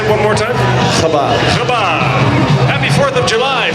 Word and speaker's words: Chabad: Chabad.